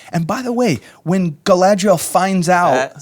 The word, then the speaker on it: Galadriel: And by the way, when Galadriel finds out... Say it right. Galadriel.